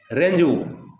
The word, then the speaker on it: rendezvous: रेंजवू, spelling देखिए रेंजवू पढ़ते हैं उसको, और स्पेलिंग है RENDEZVOUS, पढ़ते हैं उसको रेंजवू।